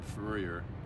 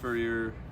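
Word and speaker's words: Fourier: I think it was from Furer. Um uh such a weird name. He he has a transformation named after him in calculus, right? Yes. Yeah. The Yep. Furer.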